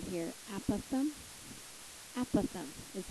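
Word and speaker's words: apothem: vocabulary em is this word right here aatham aatham is how you say it it's a pretty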